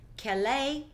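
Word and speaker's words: כְּלִי: You click on it, and it gives you the pronunciation of the word keli, and it comes from the Hebrew word 36:15.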